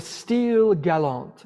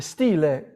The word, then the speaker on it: style galant: Now, he wrote in the style galant, in the stile, if you were to do it in Italian, but in French it's style galant.